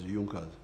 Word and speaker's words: Junker: It is written Junkers but they pronounce it as Junas.